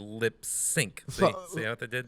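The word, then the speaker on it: Lipps Inc: singing about new york now lip sync is that technically how it's supposed to be pronounced that's the first time i've heard it that way yeah it's 40 years it's it's written as lips inc but it's supposed to be lip sync see what they did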